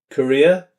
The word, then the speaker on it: career: The R in further or career is not pronounced. Hear it as further, career.